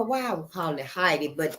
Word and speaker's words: Haiti: H-A-I-T-I, Haiti. I don't know why I was calling it Haiti, but it's actually pronounced Haiti.